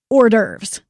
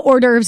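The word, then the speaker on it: hors d'oeuvres: say the word was ordes okay have you seen how ordes is spelled it's very weird cuz it's like French or something isn't it yes yes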